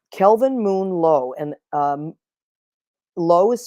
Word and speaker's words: Loh: to do um Kelvin Moon low and um low is spelled l so if you look him up